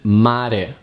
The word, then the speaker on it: mare: The R has a soft sound when it's inside a word between 2 vowels, as in mare, mare. So in this case, we don't roll it.